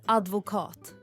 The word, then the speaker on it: advokat: Uttalet är advokat med betoning på sista delen.